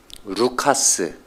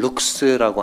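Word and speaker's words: Λουκᾶς: 누가의 원래 발음은 루카스 또는 룩스라고 하는데요. 어, 이것은 유대식 이름이 아니고 헬라식 이름입니다. 그리고이 루카스나 룩스라는 이름의 뜻은 빛난다, 촉명하다.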